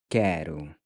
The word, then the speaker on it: quero: So we learned that I want is eu quero. So the O is pronounced with the U sound.